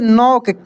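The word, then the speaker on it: knock: सी के क्या पढ़ेंगे के एन ओ सी के न के साइलेंट रहेगा क्या रहेगा दोस्तों हाल ही में क्लास कराया हूं जिसमें साइलेंट लेटर वाले बहुत सारे वर्ड को मैं सिखाया हूं तो इसको पढ़ेंगे हम लोग नक ठीक है इसके बाद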